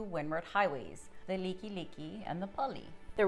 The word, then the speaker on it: Likelike: Some common street names and highways that get pronounced wrong are 2 windward highways, the Liki Liki and the Pali. The wrong way we often hear it is either the Like Like or Likey Likey or the Pali.